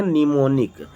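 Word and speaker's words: mnemonic: निमोनिक। Am silent हो गया है, ठीक है ना, NEMONIC, तो निमोनिक कोड कहते हैं।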